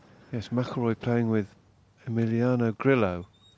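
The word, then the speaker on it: Grillo: maroy playing with Emiliano gillo Argentinian I think it's pronounced gillo and not Grio probably because he plays in America I would say Grio there you go what do I know and he's only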